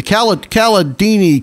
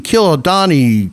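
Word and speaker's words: Cialdini: Hey, I know everybody pronounces his name differently. What is it? Robert? The Caladini, Kilodani, Candelabra. Yeah, I say Caladini.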